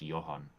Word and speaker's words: Johan: I think the name is pronounced Johan. Johan?